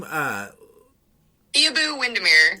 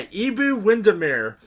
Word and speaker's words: Iabou Windimere: Iabou Windimere. Yeah, Iabou Windimere.